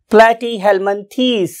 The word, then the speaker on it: Platyhelminthes: and Hell Min t now what is its true pronunciation platy Helman it's a true pronunciation